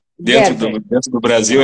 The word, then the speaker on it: Gerber: Gerber se escreve, mas Gerber se fala, minha origem é alemã, Gerber.